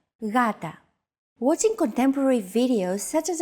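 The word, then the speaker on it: γάτα: word Gata meaning cat this is usually romanized with an initial G letter but it is not pronounced Gata the first consonant is softer Gata watching contemporary videos such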